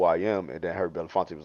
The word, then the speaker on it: Belafonte: name benef come on well help me out Belafonte Belafonte um he actually gave Harry Belafonte a